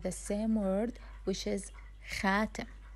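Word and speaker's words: خاتم: Ring in the official Arabic or the general Arabic, we say it as the same word, which is khatim. Khatim.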